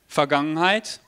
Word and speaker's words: Vergangenheit: That's the first bit there, Vergangenheit. The German V is pronounced with a F, so that's why I said Vergangenheit and not Vergangenheit.